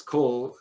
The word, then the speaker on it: Coal: So it's Cole as in Coltrane, C-O-A-L, and as in Street here in Vancouver, D-A-V-I-E.